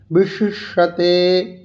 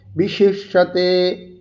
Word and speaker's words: বিশিষ্যতে: আসক্ত স বিশিষ্যতে, আসক্ত স বিশিষ্যতে, বিশি, এই দুটো শয়ের উচ্চারণ। স একদম ভিতরের অংশে মুখমণ্ডলের উপরের তালব্যস্থান, তালুস্থান, মধ্যভাগে মূর্ধাস্থান, এই শেষ ভাগে হচ্ছে মূর্ধাস্থান, মধ্যভাগে হচ্ছে তালুস্থান। বিশিষ্যতে, বিশিষ্যতে, कर्मेन्द्रिय हि कर्मयोगम আসক্তঃ সা বিশিষ্যতে।